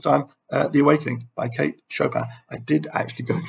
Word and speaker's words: Chopin: But no, Americans in this instance clearly do know how to pronounce things. She was Kate Chopin.